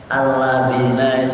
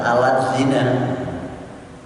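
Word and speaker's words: الَّذِينَ: Alladzina itu untuk nulisnya membacanya bisa ditulis baca alat zina. Terus alladzina kan aladin terus diberi zatan zina, alat zina, pada alladzina yu'minuna billahi wa alladzina yuqimuna rusak.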